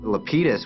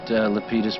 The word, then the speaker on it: Lapidus: this yo hey Lapidus they pronounced it Lapidus but I think the correct Greek is Lapidus I just asked him